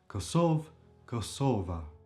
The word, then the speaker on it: Kosova: A is the feminine definite article in the nomin nominative case in this case and it would become kosovva and then the pen ultimate syllable is stressed. Kosova.